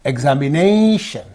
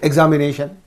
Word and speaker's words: examination: Determination, examination. So here you have to give, whenever you give the stress properly and pronounce the word, that looks so beautiful. You cannot say examination. You have to say examination, determination, cultivation, imagination.